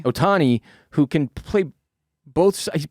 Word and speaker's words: Ohtani: baseball even with this dude how do you pronounce his last name i always blow it ohtani ohtani who can play both sides pitching he's hitting